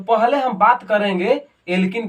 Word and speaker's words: alkene: आए, लास्ट में देखो एल्किन, एल्किन तो इसका सफिक्स यानी उच्चारण लास्ट में क्या हो रहा है, इन, एल्किन।